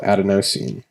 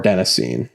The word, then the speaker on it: adenosine: sensation this chemical is called adenosine or adenosine adenosine is kind of the British way of pronouncing it as Dr Walker pronounces it and uh Dr huberman that pronounces as adenosine so it's kind of like aluminum and aluminum doesn't really matter but it's adenosine or